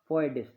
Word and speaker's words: foedus: संघ शासन जो है, ये जो शब्द है ये लैटिन शब्द फोइडिस, जिसकी स्पेलिंग FOEDUS, जिसका प्रोनाउंसिएशन होगा फोइडिस से लिया गया है, जिसका अभिप्राय है संधि या समझौता।